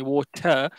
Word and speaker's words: water: ولكن أكثر من ذلك، هو ليس التاء يعني بالحركة، يعني ووتا هو التاء الساكنة، فهذا أهل الإنجليز يعني في بريطانيا لا ننطق بالتاء الساكنة كثيرا. فمثلا يعني كيف وات. ما نعم وات، فهذا التاء يعني في تي في نهاية الكلمة لا ننطق وات.